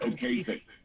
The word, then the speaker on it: Ocasek: Rick Ocasek.